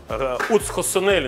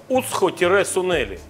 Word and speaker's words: уцхо-сунели: Это Уцхосонели называется порошок. Еще раз. Ты слышал такое слово? Нет. Уцхо. Уцхо-сунели. Сунели слышал. Но тире не произносится.